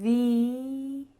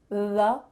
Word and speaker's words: the: out, th-ee, th-ee, but, instead, the vowel afterwards is not uh, th-uh. Instead, you're making a long E sound.